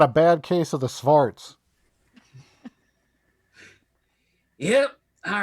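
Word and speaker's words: xvart: bad case of the svarts yep all right great sure why not what else could go wrong this really stinks oh i checked it really is pronounced start fart smart x-v-a-r-t by the way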